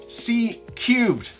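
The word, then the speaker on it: C³: New groundup C3 pronounced Cubed continuous curved cone midbase profile woofer ensures superior bass dynamics and smoother integration with the high frequency driver.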